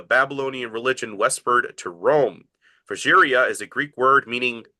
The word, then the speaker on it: Phrygia: Phrygia is a Greek word meaning freemen. Our English word free comes from the first syllable, fry.